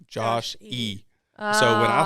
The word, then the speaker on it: Josh E: we call him Joshy but not like in the cute nickname is like oh Joshy Joshy it's Josh e so when I spell